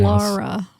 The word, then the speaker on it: Laura: Laura, not Lara.